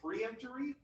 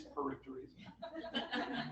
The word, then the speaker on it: peremptory: You do get 3 peremptory challenges, which I think I always say preemptory, but I didn't realize that I was saying it wrong until I was making this slide last night. I was like, oh, it is peremptory.